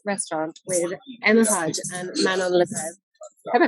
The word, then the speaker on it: Manon Lagrève: I am in Toklas Restaurant with Emma Pudge and Manon La Greve. Have I pronounced that correctly?